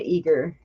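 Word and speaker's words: Eagar: the details and so that led me to eager right and so I Googled that on up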